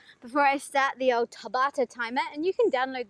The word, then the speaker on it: Tabata: or ta ba tha I think it's like Tabitha but pronounced Tabata so first one knees